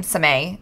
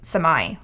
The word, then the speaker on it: Samay: Right, but the joke is, we're mispronouncing your name, Samay. Obviously, it's Samai, right?